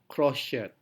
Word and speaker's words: crochet: Namun kita juga bisa menemukan bentuk lain dalam sugar sugar atau double s fisure fisure dan ch seperti crochet crochet. Jadi kita tidak mengucapkan sebagai ch crochet crochet.